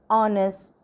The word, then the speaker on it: honest: Another one, an honest man. Even though it's a H, but it is a silent H. So, it pronounced as O.